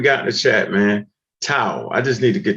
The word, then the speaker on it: tau: bumper this word right right here hold on tau y'all familiar with tau beta pi tau t-a-u is that am i saying that right